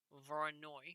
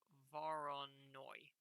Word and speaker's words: Voronoi: may see at some point is called a voronoi i believe it's pronounced diagram as such where's my pen there it is this is a voronoi diagram what this does is this simply shows